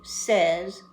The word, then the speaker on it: says: do the forms here, we're going to find that we change the pronunciation. We use this word so much, we went to an easier pronunciation. It's just a tiny bit easier, but a little bit.